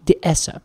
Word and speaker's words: dehesa: If we're in Spain, it's called a dehesa. Dehesa. Dehesa. Hmm. If we are in, or rather, I'm sorry, the Spanish pronunciation would be dehesa.